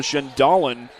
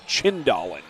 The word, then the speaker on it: Chindalen: That's Kyla Schendalen on the attack. Excuse me, I need to repronounce that. It's Kyla Chindalen.